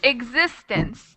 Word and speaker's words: existence: along with the word so we have existence that's three syllables existence um and where's the stress is it it's existence so which syllable which syllable has the stress the the louder sound you the second the second syllable so most of the